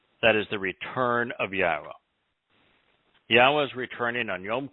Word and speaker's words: Yahweh: hellish period for israel and jews and then yahweh that's an accurate pronunciation of the name of eloah god as